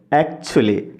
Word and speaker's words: actually: এরপরের ওয়ার্ডটি দেখুন, আমরা উচ্চারণ করি অ্যাকচুয়ালি। আসলে ফার্স্টে সাউন্ড রয়েছে। তো এখানে ফার্স্টে আমাদের স্ট্রেস দিতে হবে। তো উচ্চারণটি হবে অ্যাকচুয়ালি প্রকৃতপক্ষে।